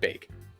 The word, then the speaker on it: Baek: I could I'm hoping I kept going from back to bake it's bagged I hear it all the time I hear it all the time but I can't help but pronounce it bake well that's gonna be